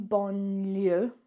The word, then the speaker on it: banlieue: In banlieue, it should be doing the same thing when N and L happen.